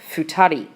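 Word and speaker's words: 二人: this case the two and the people is pronounced futari and from there we continue the list as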